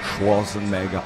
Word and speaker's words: Schwarzenegger: I love that you do an Austrian accent every time you say her name. That's how you're supposed to say it, you know. Schwarzenegger, I kill you.